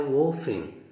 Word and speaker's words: often: how often. والـT هنا كمان silent. يعني إيه T silent؟ يعني هنا لا تنطق، تكتب ولا تنطق.